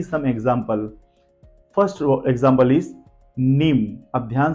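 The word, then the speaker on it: mneme: है let's see some example first example is नीम अब ध्यान से देखिए एम एन ई एम ई नीम क्या होता है इसका मतलब याददास्त स्मृति नीम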